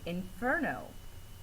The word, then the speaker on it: Inferno: syllable able in water in Inferno fur gets more emphasis it's said just a little bit harder than the rest of the word so fur the second syllable is the stress syllable in Inferno you need